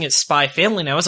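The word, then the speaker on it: SPY×FAMILY: it's like an x the x is silent so i got a copy of the first issue of spy family and she was pronouncing it spy family and i was like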